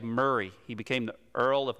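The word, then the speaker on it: Moray: be the earl of it's spelled m-o-r-a-y but you actually saved murray he became the earl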